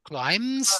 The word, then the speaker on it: climb: climb climb the ladder climbs the ladder don't pronounce the b I know it's there in the word but don't pronounce it um climbs the ladder